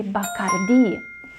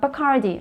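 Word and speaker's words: Bacardí: it's not bakari because the last eye has actually an accent over it there is la tilde over the eye which means that the stress needs to fall on the last syllable so it should be bakardi not bacardi remember bacardi okay and we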